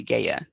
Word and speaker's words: Gaia: that the greek god is gaia i think people say gaya too uh has for you